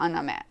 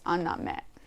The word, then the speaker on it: anime: Asia I also like anime it's not anime it's unnamed that's the way you pronounce it in Japanese it's a Japanese animation